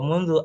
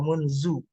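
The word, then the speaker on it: مُنْذُ: Oke, kemudian eh, contoh daripada daripada kalimat yang salah, kalimat yang benar kemudian dibaca untuk pelafalannya salah. Wa mundu amara amarallahu nabiyyu sallallahu alaihi wasallam bisolati nahwa Ka'bah. Nah, yang salah itu wa munzu amarallahu nabiyyu sallallahu alaihi wasallam bisolati nahwa Ka'bah.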